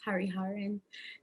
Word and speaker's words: Hariharan: my last thing is a little hard to pronounce hariharan and um i just i want to first